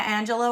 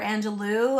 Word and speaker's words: Angelou: important and then uh Maya Angelo or Angelou I've heard it pronounced both ways but yeah she's amazing